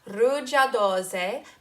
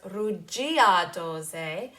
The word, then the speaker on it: rugiadose: The first one has to do with the word rugiadose. Make sure you do not pronounce it as rugiadose, but rather rugiadose.